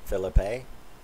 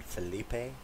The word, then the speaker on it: Phillippe: to call him ryan felipe like french you know or whatever well it turns out that according to him his name is pronounced philip with a canadian a so uh philippe ryan